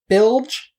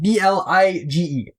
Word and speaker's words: Blige: Bilge, I think, stand for? The last name is spelled B-L-I-G-E.